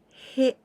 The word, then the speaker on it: へ: Fourth letter is he, ha, hi, hu, he. H and E sound. He.